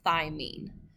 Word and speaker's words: thymine: The second one is cytosine, the third one is adenine, and the fourth one is thymine.